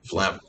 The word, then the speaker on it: phlegm: what isn't it one phlegm yes it's spelled falagam but it's flam so there's phlegm there's